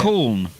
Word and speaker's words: Colne: Colne.